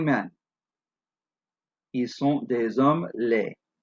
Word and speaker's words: laids: Ils sont des hommes laids. Laid has an S at the end. It is silent to make it plural, but you get the idea.